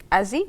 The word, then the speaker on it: AZZI: So, just tell us about Azie. Did I say it right? Yes. Azy.